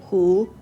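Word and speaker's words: 虎: In Chinese, you pronounce the word tiger by saying hu.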